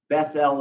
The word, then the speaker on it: Bethel: Bethel is spelled B-E-T-H-E-L, Bethel.